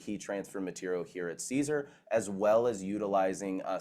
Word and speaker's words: Siser: open up with but the name is pronounced Caesar so Caesar like the salad uh it's actually the